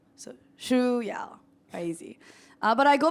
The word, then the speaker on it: Shuyao: but my name is Shu ya so it's very difficult to pronounce but if you're interested it's pronounced like the shoes you're wearing and Y so shoe y czy uh but I